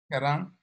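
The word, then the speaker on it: ཁྱེད་རང: That letter is ka. What's the thing underneath it? Oh yeah, we haven't gotten to that. It's a yatak. This means you. How do you say you? Yisnayu? Kerang.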